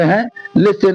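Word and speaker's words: whole: चाहिए अगर तुम्हें यहां लिखा होल होल माने संपूर्ण इसे होल बोलते हैं नहीं बोलते हैं यहां डब्ल्यू साइलेंट रहता है यहां पे लिखा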